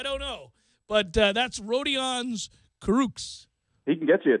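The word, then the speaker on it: Kurucs: Rodions is not Kurkus, but Kuruks. It's Kuruks.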